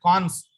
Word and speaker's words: cons: Okay, you would pronounce it cons for construct.